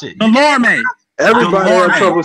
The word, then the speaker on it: Delorme: I remember the guy, Thomas Delomore. Look like you can't even pronounce it. Delorme.